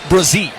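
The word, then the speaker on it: Bresee: Yeah, Brazie. Brazie. Brazie. Cuz I want to call him Greece and that's wrong.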